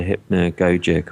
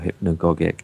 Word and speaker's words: hypnagogic: Yeah, that would be called the hypnagogic or hypnagogic, depending on how you want to pronounce it, state, where you start